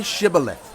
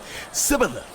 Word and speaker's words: Shibboleth: If he replied, "No," they said, "All right, say Shibboleth." If he said, Sibboleth, because he could not pronounce the word correctly, they seized him and killed him at the fords of the Jordan.